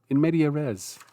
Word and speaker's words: in media res: The next one is in media res. In media res? Let me just see. I'm going to use a pronunciation guide here. In media res. In media res, according to the Latin.